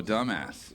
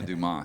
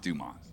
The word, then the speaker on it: Dumas: Oh, dumbass. Yeah. Oh, yeah. Yeah. Swashbuckle. Oh, yeah. Go. Yeah. Dumbass movie. I hear you. No. Dumas. Dumas. Dumas. Dumas. It's pronounced Dumas.